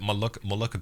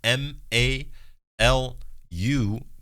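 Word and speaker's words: Maluku: in the comments actually when I said mal mulan people got the name I think either wrong or maybe that's like the English name but it's spelled m a l u k u malu like that um and in that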